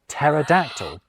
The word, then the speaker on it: pterodactyl: So we pretend the P isn't there when we pronounce Greek-derived words like psychology and psalm. Ditto with pt words like pterodactyl.